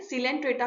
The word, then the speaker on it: Coelenterata: सीलेंट्रेटा को Cnidaria भी बोला जाता है, इसमें सी साइलेंट होता है।